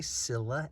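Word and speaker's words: Scilla: this is the skilla probably people say Sila s c i l l a but I say skilla because I'm trying to I'm trying to get my ancient Greek pronunciations and the letter C in Greek is always pronounced K so Cyclops are kops what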